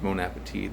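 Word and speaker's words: bon appétit: French language it's just bone Appetit that T is silent kind of like vote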